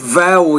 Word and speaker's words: vowel: First of all, when you say the word vowel, you need to pronounce that V with more vibration.